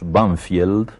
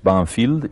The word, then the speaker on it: Banfield: suburbios de buenos aires que nosotros pronunciamos banfield pero que tiene un nombre inglés banfield y ese nombre inglés